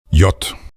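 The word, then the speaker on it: Jahr: ईदा ईदा ईदा अक्षर यत यत यत पढ़ते समय इस अक्षर का उच्चारण ध्वनि की तरह होता है य ये ये या का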